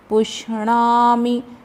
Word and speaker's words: पुष्णामि: भूतानि धारयाम्यहमोजसा पुष्णामि, णा का उच्चारण अच्छे से करेंगे।